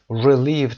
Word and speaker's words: relieved: relieved تلفظ دقت داشته باشید. ای کوتاه در اول و ای دوم ای کشیده است. relieved استرس رو هم میگیره.